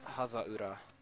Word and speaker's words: Hazaura: Once again, it was Hazaura. It's a very Japanese way of saying things, but... It helps a lot when you're dealing with syllables instead of letters.